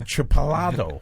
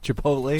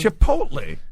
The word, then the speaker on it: Chipotle: good burrito what are you talking about that chipal Chipotle Chipotle yeah I so I said